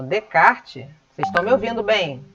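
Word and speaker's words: Descartes: René de kart né o nome dele se pronuncia em francês como de kart Você só me ouvindo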